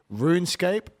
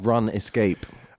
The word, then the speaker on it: RUNESCAPE: Use the code RUNESCAPE for 50% off the first month. I think it's pronounced Run Escape. Ah, got it. Yeah, Run Escape. So now you know that. Run Escape. That is the pronunciation.